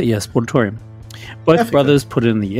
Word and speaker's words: Sportatorium: Yeah, Sportatorium.